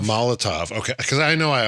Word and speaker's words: Molotov: Molotov. Molotov.